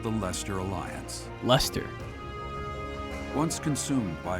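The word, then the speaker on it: Leicester: King nor Emperor rules what is called the Lester Alliance luster once consumed by a tempest of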